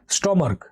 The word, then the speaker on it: stomach: স্টমার্ক। STOMACH। তো দেখো লাস্টে সিএইচ আছে। স্টমার্ক। লাস্টে সিএইচ এর যে উচ্চারণটা সেটা কয়ের মতো আসছে, স্টমার্ক।